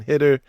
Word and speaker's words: Hider: Top 50 running back in the 2026 class, Savon Hitter. I know before you say it, it's spelled Hider. It's Hitter.